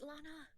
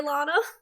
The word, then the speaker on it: Lana: I just love the idea of Benedict and Luna just squatting, going teep teep teep. Hannah, her name is Lana. Do I keep saying it wrong? You keep saying Yeah. Luna. Oh, I'm so sorry, Lana.